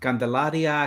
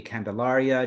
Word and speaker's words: Candelaria: for us please absolutely so it can be Candelaria it can be Candelaria just anything but late for dinner anything but late for